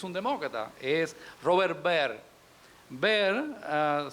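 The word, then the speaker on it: Byrd: demócrata es robert bird bird se pronuncia bien así que se va bar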